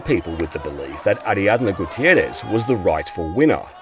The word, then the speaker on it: Ariadna: Having said that, Ariadna called out Steve for mispronouncing her name as Ariana on his TV show. You keep you keep making mistakes. It's not Ariana, it's Ariadna.